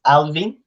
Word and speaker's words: Alwin: because my name is alvin so we pronounce it like a v but uh it's written as a w thanks mom yeah yeah exactly like alvin and the chick monks so that's why i